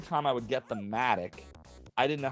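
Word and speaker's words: mattock: mailbox then we're dead apparently it's pronounced Matic and it refers to like a pickaxe type object oh and when I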